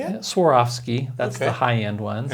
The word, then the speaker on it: Swarovski: Swarovski, that's the high-end ones.